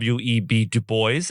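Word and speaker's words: Du Bois: On this day in legal history, February 23rd, we commemorate the birth of Web Dubo. and that is how it is pronounced.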